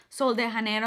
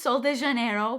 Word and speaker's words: Sol de Janeiro: mispronounced something on youtube this is sol de janeiro okay i'm sorry for saying hanero don't kill me this